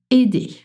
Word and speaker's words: aider: The base form, so infinitive is aider. Aider. It is spelled a i d e r in its basic form.